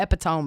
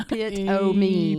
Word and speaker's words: epitome: the epitome of tired. You have to put a little pronunciation key after that. I need to spell it out. Yeah. E-pit-o-me.